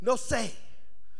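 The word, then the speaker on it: νοῦς: When I looked up that word mind in Romans chapter 12, verse 2, that Greek word for mind is nosē, nosis. It's spelled N-O-U-S and pronounced N-O-O-C-E.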